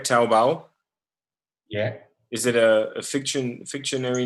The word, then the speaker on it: Taobao: Taobao?